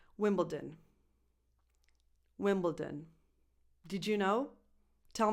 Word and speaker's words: Wimbledon: And this is pronounced Wimbledon. Wimbledon. Wimbledon. Wimbledon. Not Wimbledon.